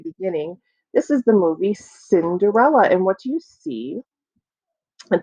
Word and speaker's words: Cinderella: the scene here ready Cinderella is that a hard see like okay or is it like the S it's like the S so Cinderella has a soft C so look and see